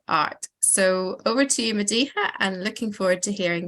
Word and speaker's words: Madihah: walking music and art so over to you mediha and looking forward to hearing what you have to say and I hope it pronounced your name correctly yeah no absolutely perfectly